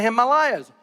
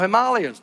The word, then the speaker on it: Himalayas: same features, and even in the Himalayas, or Himalayas, depending how you want to pronounce it.